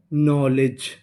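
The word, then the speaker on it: knowledge: यहां पे जो हमारा के है वो साइलेंट रहेगा। तो इतनी मीनिंग नौ एल ई ले डी जी ई जा नॉलेज नॉलेज नॉलेज का मतलब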